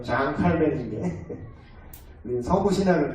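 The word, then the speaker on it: Jean Calvin: 그래서 존 칼빈이 이런 얘기했습니다. 프랑스 사람인데 원래 발음대로 장 칼빈인데 우리는 서구 신학을 또 이렇게 들어와요.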